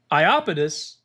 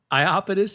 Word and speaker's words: Iapetus: Let's see if I'm getting that right. Iapetus. I did not say that correctly. Iapetus it is. Oh my goodness. That was really rough, actually. Iapetus.